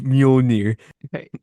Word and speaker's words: Mjolnir: Isn't it like Milnor? Milnor. To be a fucking neckbeard, actually, it's Mjolnir. Yeah, but you would. Milnor goes harder though.